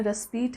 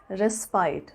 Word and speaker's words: respite: रेस्पीट की pronunciation American English में रेस्पीट है, एंड in British pronunciation you will pronounce it एज रेस्पाइट. So take your pick.